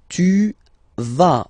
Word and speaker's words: tu vas: Tu vas, final S doesn't exist.